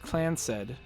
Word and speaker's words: Clanced: The Clanced pronounced Clansed.